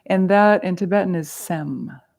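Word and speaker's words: sems: that and Tibetan is sem sem s-e-m there's a silent S at the end right Sam and that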